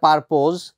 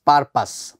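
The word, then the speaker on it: purpose: পারপাস কেউ কেউ উচ্চারণ করে পারপোজ, but exact pronunciation is পারপাস। পারপাস কথাটা মানে হচ্ছে উদ্দেশ্য,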